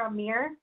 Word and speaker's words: Amir: yes great um so my name is actually pronounced here Amir like meerkat oh great no problem